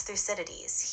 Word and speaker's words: Thucydides: And this is by someone, I don't know how to pronounce this. Their name is Thucydides. Who is that, Robot Lady? Yeah, that's Thucydides.